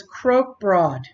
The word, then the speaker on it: Krokbragd: called crook bond broad the G is silent so it's Croke broad and it is very